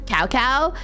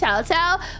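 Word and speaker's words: Cao Cao: of it and and I know that's like not the right pronunciation of C it's chaow but I'm going to call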